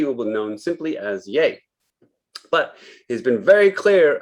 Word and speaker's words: Ye: of kanye he will be known simply as yay but he's been very clear about the pronunciation he does not want to be known as ye is it really pronounced yay because it's